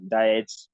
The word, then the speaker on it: Dietz: Second one I want to pronounce now, diet syndrome. Diet as in diet then with a Z at the end of it.